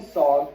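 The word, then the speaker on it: Sarg: So, here's a picture of Anthony Tony Frederick Sogg. SOG rhymes with Augg.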